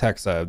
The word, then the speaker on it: Hexa: Codename Hexa, which I've learned it's it's Hexa. There was a German on the call and told us how to pronounce it.